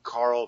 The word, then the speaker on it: Carl: My name is spelled just like it sounds, Carl, like the first name, C-A-R-L.